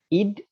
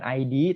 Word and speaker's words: id: gitu ya, yang disebut id, ego, dan super ego. Jadi ini bukan dibacanya bukan ID tapi id.